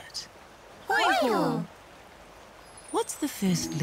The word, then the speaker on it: Hōiho: Hōiho. What's the first letter of the word hōiho? Hōiho. Sino pai. Now try sounding out the word hōiho. Hō. I. Hō.